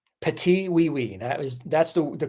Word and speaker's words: Petit Oui Oui: Petite wee wee. Patiwei. That is that's the the correct pronunciation.